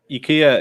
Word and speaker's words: IKEA: IKEA is the correct way to pronounce IKEA.